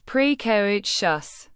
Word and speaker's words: precocious: precocious pronounce it as pre cog shus. The pre sounds like pre in pretty co sounds like co in go and shus sounds like s h u s in delicious.